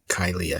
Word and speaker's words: Kyliah: you say your first name how do you pronounce it so it's kyia kylia kylia excellent excellent excellent and you when I